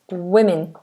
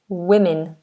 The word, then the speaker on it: women: I correct regularly okay it's not woman it's women women like with like w i with women women men and women men and women okay